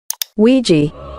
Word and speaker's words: Ouija: data analyst expert to give us the proper pronunciation of this word Ouija Ouija boards ladies and gentlemen these boards were